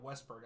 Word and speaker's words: Westberg: you say his name West Braun Westberg yeah Westberg I don't know why I said West Brom